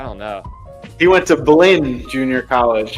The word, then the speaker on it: Blinn: He went to Blinn Junior College. It rhymes with Glenn.